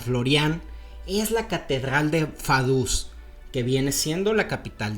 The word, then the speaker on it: Vaduz: Ltenstein no solamente es un principado, sino que es un principado muy interesante porque Fadus, que es la capital, se escribe badus, si lo pronunciáramos en español.